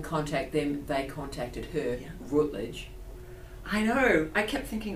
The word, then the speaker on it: Routledge: Is that how you pronounce it? Yeah. Routledge.